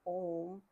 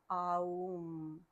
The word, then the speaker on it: Om: And the pronunciation of that is not Om, it's Aum. Aum.